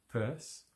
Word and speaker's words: Peirce: Okay, so the next one is by Indiana University Press, and it's Dupin, Holmes and Peirce, as I understand you say his name.